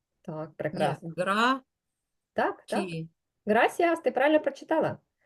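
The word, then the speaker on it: gracias: прекрасно гра так так грасіас Ти правильно прочитала і правильно помилилася потім чому Бо Ось ця літера яка схожа на нашу с читається по-різному грас читається оця літера перед і завжди як наша с граасце Дякую Отже в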